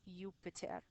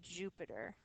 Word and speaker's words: Jupiter: When we're speaking in Latin, we pronounce this Juno and we pronounce this Jupiter. But when we're saying their names in English, we say Juno and we say Jupiter with that J sound.